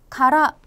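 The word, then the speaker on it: 空: 만약 " 소라 " 라고 읽으면 하늘 을 의미 합니다 . 하지만 보시 다시피 , " 카라 " 라고 읽으면 내부가 완전히 비어 있다는 뜻 이 됩니다 . 그것 은 " 카라 " 입니다 . 음성 기호 없음 .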